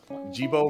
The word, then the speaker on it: Jibo: It's pronounced Jibo, Mr. Takahata.